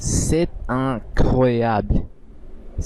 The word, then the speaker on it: c'est incroyable: এই বে আর এল এই দুটি একসাথে উচ্চারণ হবে।